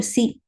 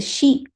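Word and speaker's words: し: Su say so so the second sound is not a c it is a she so please make a note of it so right so we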